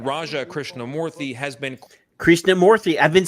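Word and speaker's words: Krishnamoorthi: olds Illinois Congressman Raja Krishna morthy has been Krishna morthy I've been saying it right the whole time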